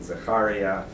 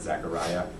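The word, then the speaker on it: זכריה: and aadia um and Zakaria um I use Hebrew pronunciations for their names so they might not quite sound zakar you've probably heard Zachariah um me you've probably heard Micah um so um so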